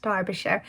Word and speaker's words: Derbyshire: derbyshire if you're not from the uk but pronounced derbyshire or as i seem to always want to pronounce it dubisher so that is how i will be pronouncing